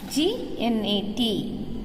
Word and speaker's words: gnat: G-N-A-T, gnat. G is silent.